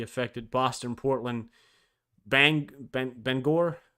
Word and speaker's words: Bangor: Boston Portland bang Ben Bangor is how you say it Bangor I don't know